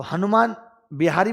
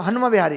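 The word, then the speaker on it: Hanuma Vihari: तो हनुमान बिहारी बोलना थोड़ा सा टफ होगा, हनुमा बिहारी इधर आ, एन साइलेंट हो जाता होगा।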